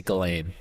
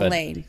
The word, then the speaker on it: Ghislaine: I say Ghislaine. but- Ghislaine. Okay. I've heard Ghislaine, but also that S is in there, so I understand the temptation to pronounce it.